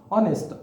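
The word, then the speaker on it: honest: Real pronunciation इसका क्या है, ऑनेस्ट, दैट मीन्स कि इसका करेक्ट प्रोनाउंसिएशन है ऑनेस्ट।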